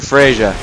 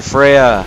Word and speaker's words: Freja: used to be a dragon so Duke's Dear freisia or Freya sorry I know how to pronounce its name now so Duke's Dear Freya a little bit backstory so yeah after I